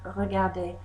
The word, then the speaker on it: regardé: And you'll notice that the pronunciation of regarder, to watch, is exactly the same as regarder, watched. That's because er plus e with an acute accent make an a sound.